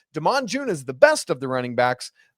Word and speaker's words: Demon: It's spelled like demon, but it's pronounced Demon.